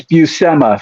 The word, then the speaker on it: Bui: Senor of course s Bui um sorry I'm mispronouncing the names gonna just I'll tell you real quick it's buma for everyone out there buma bua yeah uh